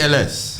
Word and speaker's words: Ellesse: Ellesse. So Ellesse, that's Italian. so it's actually Okay. Ellesse. Yeah. Okay. So that's actually the right pronunciation.